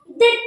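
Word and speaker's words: debt: देखिए इसको डेट पढ़ते, बी स्माइल साइलेंट।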